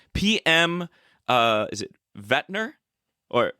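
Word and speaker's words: Vänner: I'm going to try to pronounce this right. Uh in Sweden called PM uh is it Vetner or Vener? Vener PM Vener.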